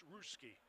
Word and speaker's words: Russia: It's spelled Russia, but it's Ruski.